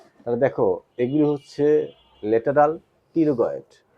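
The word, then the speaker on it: pterygoid: টেরিগয়েডের উচ্চারণের সময় আমাদের টির উচ্চারণ হবে না। লক্ষ্য করে দেখো যেন টি আসছে হলো, তাই না? আছে না? লেটারাল পিটি আর ওয়াই, তাই না? পিটি আর ওয়াই জি ওয়াই ডি, টেরিগয়েড।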